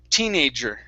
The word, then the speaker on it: teenager: give me a good j sound here teenager teenager uh-huh one more time teenagers stress at the beginning teenage years okay one